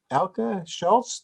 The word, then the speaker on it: Elke Scholz: I'm speaking to Elke Scholz.